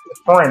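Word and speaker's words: Frieren: I got like how how do you pronounce the anime? I mean friend, right?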